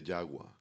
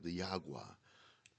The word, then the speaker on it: Jagua: I First of all, she didn't quite pronounce it like that. She said more like diagua. I looked at her and I thought, "What?" You know, and uh you know, awa is water in Spanish.